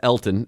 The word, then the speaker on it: Elgton: E L G T O N It is pronounced Elton. Elton, it's a silent G.